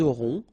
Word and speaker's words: auront: liaison here, vous aurez, ils auront, final T not pronounced, elles auront.